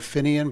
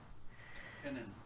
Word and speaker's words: Finan: So, Jonathan, if you could clarify the name of the Jason Christopher, I thought I heard Finian, but I want to be, is it Finian? How do you pronounce that? Finan, F-I-N-A-N.